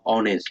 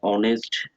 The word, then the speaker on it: honest: before our or uh honest okay it will be noticed that the words power and honest hair begins with the vowel sound and as the initial consonant h is not pronounced okay now before a